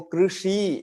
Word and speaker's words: कृषि: वहां लगाकर र बोलिए, वहां लगाकर रू बोलिए। रू ऐसा मत बोलिए, वो ओष्ठ से निकल जाएगा। लेकिन आप ओष्ठ पर मुर्दा पर जीभ लगाकर रू बोलिए तो वो उच्चारण होगा र जैसा, तो कृषि ऐसा होगा।